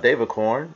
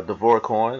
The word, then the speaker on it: DavorCoin: of the updates from David corn or Devorah corn or however you like to say it I'm used to saying Devore I think it's actually pronounced devar coin but anyway nevertheless as